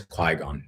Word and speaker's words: Qui-Gon: She doesn't know Star Wars at all, so sometimes she gets the pronunciations wrong. And she was like, Qui-Gon? And I was like, it's Qui-Gon.